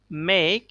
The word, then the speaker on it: make: Pass, মেক, খ। মেক শব্দে যদিও শেষে একটা ভাওয়েল আছে, ই আছে, বাট এখানে আমরা ভাওয়েল এই সাউন্ডটা উচ্চারিত হবে না।